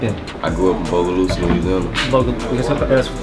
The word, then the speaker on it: Bogalusa: I grew up in Bogalusa, Louisiana. Bogalusa?